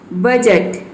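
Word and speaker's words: budget: आया है तो इसमें डी जो है वह साइलेंट है, जज। उसी तरह से यहाँ पे देखिए वेज, बजट, fridge, knowledge, ब्रिज, इन सभी में क्या है,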